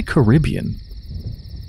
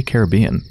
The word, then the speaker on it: Caribbean: den of the Caribbean what if I say Caribbean that's a totally valid pronunciation but normally I say Caribbean like Pirates of the Caribbean pirate den of the